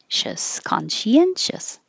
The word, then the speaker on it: conscientious: it's really spelled but think of it as khan she conscientious acknowledgement acknowledgement entrepreneur entrepreneur